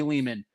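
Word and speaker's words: Lehman: The real Ari Leman. Leman rhymes with demon by the way.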